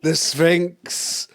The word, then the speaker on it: Sphinx: Yeah, and it rhymes with stinks. Stinks. The Sphinx.